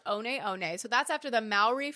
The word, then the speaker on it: One One: So it's spelled like the like the number one o sounds o ne but it's actually pronounced on on.